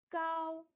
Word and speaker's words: 高: Cao, cao, premier ton, être élevé, être grand.